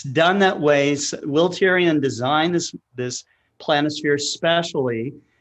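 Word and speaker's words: Wil Tirion: though 470 nanometers and a will tyrion i pronounced it correctly will tyrion yes you did multi latitude large planisphere so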